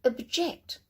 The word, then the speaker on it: object: So stress on the second syllable. And object.